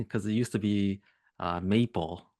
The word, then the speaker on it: MAPL: And maybe people aren't realizing that it's pronounced maple.